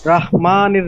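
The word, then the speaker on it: رحيم: এই শব্দটা কি রহিম হবে না রাহিম হবে রহিম রহিম র রহিম র হ্যাঁ আকারটা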